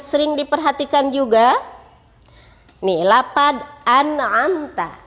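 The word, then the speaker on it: أَنْعَمْتَ: Nah, kemudian yang sering diperhatikan juga nih lapad an'amta. Anak-anak sering membacanya amta. Perhatikan hurufnya. Huruf nun dan mim sukun. Membacanya an'amta. An'amta.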